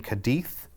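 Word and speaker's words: Cádiz: We're in Cadiz.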